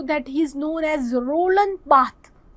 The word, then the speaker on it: Roland Barthes: he is known as Roland Barthes. Roland Barthes. That S is not pronounced, S is silent, because he is the man of France.